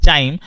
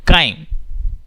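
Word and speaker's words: chyme: इट्स not, don't pronounce it एज चाइम, it's called काइम.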